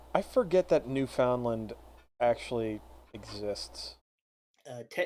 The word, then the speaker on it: Newfoundland: I I forget that New Foundland actually exists. Uh technically, it's not pronounced New Foundland.